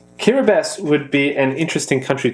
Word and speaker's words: Kiribati: I think you've taught me and a number of collectors watching what an atoll is, as well as the fact that Kiribati is pronounced with an S. Kiribati would be an interesting country to explore philatelically.